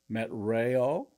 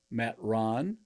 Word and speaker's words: Metron: spiritual and natural activity we pronounce it this way met Rayo met Ron or meet run and we're going to use the word met Ron we're going to say it that way for this particular presentation